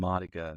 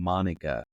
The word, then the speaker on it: Madoka: Madoka is what they call him. Madoka. That's what it is. That's how they say it. I kept thinking they were saying Monica.